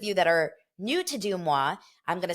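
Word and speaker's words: Deuxmoi: talked all about my behind the scenes with dumwa and what that what that went into like what went into that episode for those of you that are new to dumwa I'm gonna spell it out one more time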